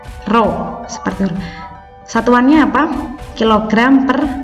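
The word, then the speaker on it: ρ: hurufnya seperti huruf P Tapi bacanya apa Rodja bacanya roh seperti satuannya apa kg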